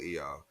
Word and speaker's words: Hüller: So I'm going to put, so for me, Lily Gladstone, and for you, Sandra Hula, did you say her name is? Yes, Huller.